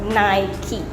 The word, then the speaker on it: Nike: Okay, so it's not pronounced Nike. Some people might call it Nike. So actually, it's called Nike.